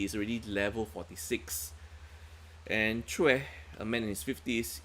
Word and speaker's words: Choi: It's Che and not Choi. Even though it's spelled as CHOI. Chue. Chue. Okay, it's pronounced as Chue.